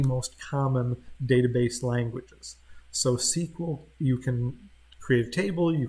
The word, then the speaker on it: SQL: is a simplified version of SQL or it's pronounced sequel is one of the most common database languages so sequel you can create table you can create an